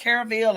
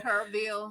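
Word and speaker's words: Kerrville: Is it Carville or Kurville? Kurville.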